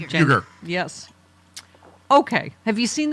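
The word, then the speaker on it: Uygur: Uyghur.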